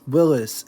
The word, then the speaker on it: Willys: Yes, Willys is how his name is pronounced.